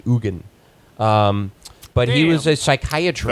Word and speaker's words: Eugen: EU g en so for a while I thought it was just like Eugene OR Eugene you Jen which would be like maybe you but no it's the Swiss pronounce it Egon but he was a